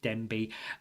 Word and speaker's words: Denbigh: It's Denbigh.